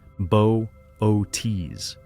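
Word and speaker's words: Boötes: became known as the buus void pronounced bootes an enormous spherical region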